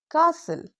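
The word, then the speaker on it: castle: सी एस टी एल ई कासल।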